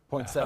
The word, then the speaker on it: poinsettia: Is it poinsettias or poinsettias? Poinsettias. That's a separate issue. How do you pronounce it? I'm a seta. I'm not sure. You're a seta? Yeah. I'm a setia. All right. I like the extra syllable.